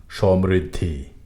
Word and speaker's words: সমৃদ্ধি: সমুচিত সন্নিকট সম্পূর্ণ সমৃদ্ধি সমৃদ্ধি যেন না হয় কারণ ঋকার কখনোই ধ্বনিকে তিক্ত করে না মটি একবারে উচ্চারিত হবে সমৃদ্ধি সংযুক্ত সন্নিধান সমুজ্জ্বল সংকীর্ণ